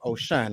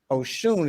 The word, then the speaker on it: Oshun: say it right because some people probably say oh shine right yeah some people say ocean ocean or ocean ocean but ocean is the proper way to say it sound right okay just